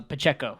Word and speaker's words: Pacheco: so I mean how do you say Isaiah pachico uh Pacheco Pacheco Pacheco uh he's the only highlight on